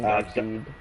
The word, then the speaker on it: Darkseid: Everybody pronounces his name Darkseid.